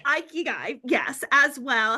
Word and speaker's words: Ikigai: You need a paycheck to take care of your family, but you also, and I cannot pronounce the Japanese word that you said. Aikigai. Ikigai, yes, as well.